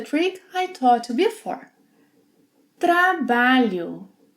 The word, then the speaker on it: trabalho: Trabalho. Trabalho. The LH sequence must be pronounced as one sound.